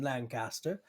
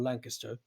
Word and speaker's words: Lancaster: that we devised in Lancaster um or Lancaster Lancaster that's the correct pronunciation how do you those